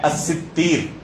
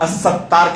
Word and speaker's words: الستیر: نام ہے الستیر، اور اس کا ایک دوسرا ضبط بیان کیا گیا الستیر۔ اسی کو بعض لوگ الستار کہتے ہیں، یہ تلفظ صحیح نہیں ہے۔ اللہ رب العالمین کا کوئی نام الستار وارد نہیں ہے اس تلفظ کے ساتھ۔ صحیح نام کیا ہے؟ الستیر یا الستیر، سین، تا، یا اور را۔ یہ تا کے بعد الف نہیں، یا ہے۔ الستیر یا الستیر دونوں طرح پڑھا گیا اسے۔ ستیر کا معنی کیا ہوتا ہے؟